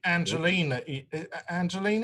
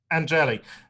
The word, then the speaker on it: Angeli: Anyway, the QAnon shaman, Jake Angelini, is that how you pronounce it? Angeli.